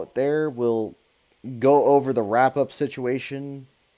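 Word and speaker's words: oui: over the wrap-up situation we is just yes in French well I mean if you spell it correctly it is O UI but yes you are correct it is we in French um but yeah like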